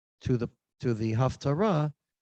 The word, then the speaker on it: haftarah: not really learned the half torah she spell it h-a-l-f half torah that's not what the word haftarah means aftarah you can hear the similarity comes from three hebrew